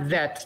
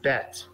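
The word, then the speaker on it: בית: baseball banana bet and it should not vet not the V sound but the B sound bet but good job continue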